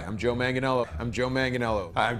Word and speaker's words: Joe Manganiello: Joe Manganiello. Hi, I'm Joe Manganiello. I'm Joe Manganiello. I'm Joe Manganiello. I'm Joe Manganiello.